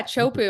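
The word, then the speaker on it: Teahupo'o: tapu teu t chopu is that how they pronounce it yeah chopu I know I always I didn't know that was T CH yeah one of the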